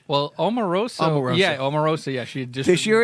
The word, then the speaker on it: Omarosa: last year they had what's a woman's name Amoroso I'm saying it right well Omarosa yeah Omarosa yeah sure it's caribou Qi yeah